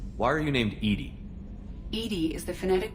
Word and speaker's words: EDI: the medical Bay why are you named ed ed is the phonetic pronunciation of Ed I that is an acronym for enhanced defense intelligence how are you getting along with Joker mr.